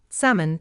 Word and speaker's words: salmon: The letter L is silent in could, should, calm, half, talk, palm, walk, salmon, and chalk.